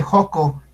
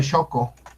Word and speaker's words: Xoco: El hospital de Joco. El hospital de Joco. Me da risa porque lo pronuncian bien mal. Se debe pronunciar Choco.